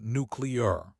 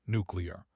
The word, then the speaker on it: nuclear: Say nucleus first. Nucleus. You can say that, right? Now just change the ending, nuclear, nuclear. The CL stays together as a cluster in the second syllable.